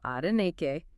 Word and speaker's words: Adenike: And as promised, here's the correct pronunciation of her name, just like in that YouTube video, Adenike.